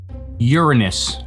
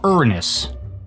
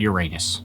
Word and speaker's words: Uranus: It's pronounced Uranus or Uranus, not Uranus.